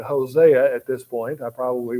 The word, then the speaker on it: Hosea: really fulfilled now um it can be pronounced either way um I think perhaps uh since I'm I'm used to calling it Hosea at this point I